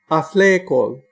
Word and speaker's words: athlekol: Your voice pitch is low and then goes up and then falls. Each syllable is different.